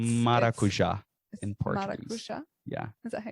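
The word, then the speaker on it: maracujá: Ooh, it's maracuja in Portuguese.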